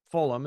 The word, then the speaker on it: Fulham: the Stamford Bridge in what is now Fulham Fulham is probably how you say it adjacent to